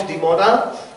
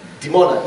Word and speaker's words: Dimona: French, the Israelis build in a town called Dimona a textile factory.